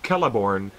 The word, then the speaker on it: Celeborn: When you have the letter C at the beginning of an Elvish word, Celebrimbor. It's Celebrimbor or Celeborn. It's never C.